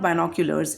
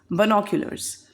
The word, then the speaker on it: binoculars: She told me, Mama, it's not binoculars, it's binoculars. And that's how I understood the difference between the right pronunciation and the wrong one.